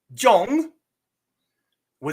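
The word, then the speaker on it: 中文: that means second tone so this word would be Jong wi Jong wi your o is going to have a flat long vowel Jong Jong and your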